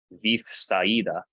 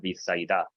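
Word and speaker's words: Βηθσαϊδά: But no, this mark is put here specifically to tell you, don't pronounce them together.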